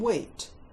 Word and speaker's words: wheat: In his mouth, the white whale had some wheat. W, silent H, E as in leaf, T. Think you eat wheat, because it has the word eat inside.